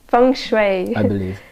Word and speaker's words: feng shui: Shui experts feng shui expert how do you pronounce our friendship song Shui from Fung Shui okay so she's a Fung Shui expert so